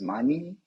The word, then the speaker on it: Mani: Well, as you said, my name is Mani. It's a pure Persian name, but it's pronounced as money in English, so you won't forget it for sure.